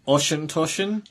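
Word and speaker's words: Auchentoshan: I've been told it's pronounced Oschentoschen.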